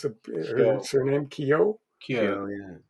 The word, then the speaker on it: Keough: How do you pronounce her Kyo, surname? Kyo, Kyo.